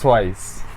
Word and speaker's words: TWIIS: It's actually pronounced TWIIS.